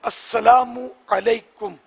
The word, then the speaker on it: السلام علیکم: بہار شریعت میں لکھا ہے کہ السلام علیکم، یہ درست ہے، میم پر پیش ہو. اب اگر کسی نے کہا السلام علیکم تو جواب واجب نہیں ہے.